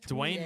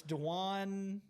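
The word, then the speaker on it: D'Wan: oh georgia is minus dwayne mathis is that right that's not right it's dejuan they're giving 28 to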